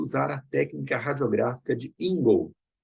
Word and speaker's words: Ingle: a técnica radiográfica de Ingold. Se escreve Ingle, se pronuncia Ingold, para fazer a odontometria.